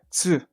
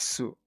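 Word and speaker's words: つ: So it's like I don't really know how to explain it as a way to do it with your mouth, but you just have to say tss, tss, tss. Yeah. So almost like you're hissing, but with the oo at the end. Tss, tss, tss. Not su, okay? Not su like sui say, it's tss on its own.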